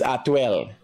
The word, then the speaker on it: Atwell: And again, it's not Atlee, it's Atwell.